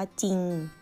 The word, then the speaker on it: จริง: ไม่ ออก เสียง เรือ อย่าง เช่น คำ ว่า จริง จอ อีก โง่ จริง เนี่ย เรา จะ ไม่ ออก เสียง ร เรือ นะ คะ เวลา เขียน ทำ